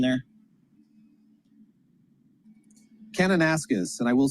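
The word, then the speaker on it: Kananaskis: David, what's a proper pronunciation there? Canonasis.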